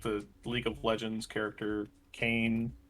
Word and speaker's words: Kain: that is also a cane from somewhere it's pronounced kane not kane got it i love those i